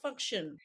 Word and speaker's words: Fungtn: I say function because it's function. Functional, but loads of people say Fungtn, so you do you.